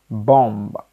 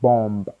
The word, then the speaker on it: bomb: to do pronunciation of words that have b in them but B is automatically silenced when you're pronouncing them so we're gonna do five words of that so number one is sakum not sakumba now number two bomb the blast not bomb it's bomb number three plumber plumber